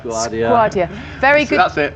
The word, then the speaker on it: Skwardya: Is that how I pronounce that properly? Skwardya. Skwardya. Very good. That's it, Skwardya.